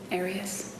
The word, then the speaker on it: Arias: I say Arias, as does the rest of my family.